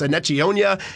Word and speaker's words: Enechionyia: And we were always emailing Larry Doherty before the start of the season saying, how do you say this guy's name? It's Enechionyia.